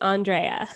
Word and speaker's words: Andréa: me because i just realized i may have butchered it that's okay honestly it's my mom being fancy but it's andrea that's what i wondered because so my my